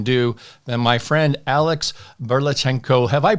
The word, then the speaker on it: Burlatschenko: what borrowers can do then my friend Alex berlachenko have I pronounced that properly Alex I want to make